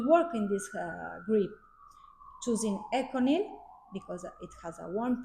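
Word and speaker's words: ECONYL: So Melissa, no, Camden before talk about Econil, but you have another pronunciation like Egonil. It's like Italian Econil.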